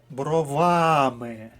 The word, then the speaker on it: бровами: дівчина з чорними але бровами Чорні брови карі очі так от бровами ми маємо наголос на другому складі на всяк випадок перевіримо